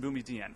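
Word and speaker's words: Boumediene: issue in boumedienne first by the way the pronunciation is the chief judge chief justices not mine I'm not trying to impress you with my my high school French there are two questions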